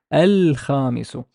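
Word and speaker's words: الخميس: How would I pronounce this? A, a, a, al, al, al, al, kha, mi, su, al khamisu.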